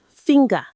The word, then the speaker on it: finger: But in finger, you actually do say the G after the N sound. It's finger.